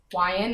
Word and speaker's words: Wion: My last name is Wion. It's just like lion with a W instead of an L.